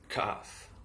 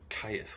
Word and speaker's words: Cheth: Cheth, CH and H as in help, value 8, is pronounced Kath, or Kayth.